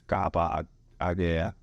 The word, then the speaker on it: Kapa Arkieh: They're like, 我不会念这个, 这怎么念? And it's just a box conversation. It's like, it's Kapa Arkieh.